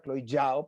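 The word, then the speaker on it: Chloé Zhao: Chloe Zhao, que es la directora, Chloe Zhao, porque así es como se pronuncia, se ha llevado el premio y vamos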